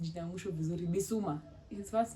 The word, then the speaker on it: Bissouma: Now, for those of you who are Tottenham fans, there's this player mnafuata anaitwa najua kupronounce jina ya mwisho vizuri. Bissouma.